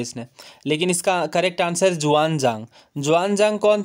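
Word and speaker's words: Xuanzang: ह्वेनसांग का नाम जुआनजांग था। ये थोड़ी प्रोनाउंसिएशन भी आप देख सकते हैं, चाइनीज़ है इसलिए ह्वेनसांग को जुआनजांग, इस तरह से आप याद रख सकते हैं।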